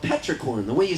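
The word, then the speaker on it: petrichor: scent it's this earthy scent and it's called Petra corn the way you spell it is p t r i c h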